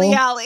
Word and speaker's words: Salieri: Did you say that like Guy Fieri? Like said an asshole? Salieri. Yeah, how it's pronounced in the original Italian.